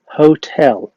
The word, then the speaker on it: hotel: الفندق بنقول عليه لا مش هوتل بنقول عليه hotel hotel اسمعها تاني hotel.